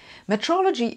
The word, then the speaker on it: metrology: to talk about quantum metrology metrology is one of the most undervalued areas of science and no I'm not just mispronouncing meteorology I actually mean metrology think meter not meaty or metrology is the